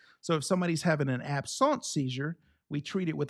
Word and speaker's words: absence: So absence, spelled like absence, pronounced absence.